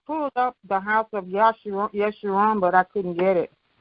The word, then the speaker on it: Yeshurun: Put in the House of Yeshurun. Make the House of Yeshurun. Y, and it's not spelled with a J. It's spelled with a Y.